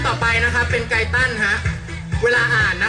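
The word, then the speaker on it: Guyton: ไป นะ ครับ เป็น ไก ตัน ฮะ เวลา อย่า อ่าน นะ ครับ อย่า อ่าน ว่า ใกล้ ตัน เพราะ ลักษณะ ใกล้ ตัน เนี่ย มี แต่ นาม แบบ เรา คน นี้ เท่า นั้น นะ ครับ ผม ไก ตัน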